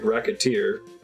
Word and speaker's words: Recettear: She's upset that it should be pronounced like Recettear. Oh, mispronounce it even slightly and Recettear.